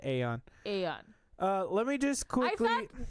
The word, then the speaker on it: Aeon: All right, anyway, starting with Eon Drive. There was... Did I say it right? Eon? Yes, Aeon. I would say Aeon.